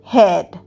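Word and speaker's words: head: পরীক্ষার আগে তার ভয় লাগে পরেরটা দেখি এইডি হেড হেডেও এ উচ্চারণ কিন্তু অতটা হচ্ছে না হেড অর্থাৎ মাথা হি হ্যাজ হেডেক তার মাথা ব্যথা হয়েছে।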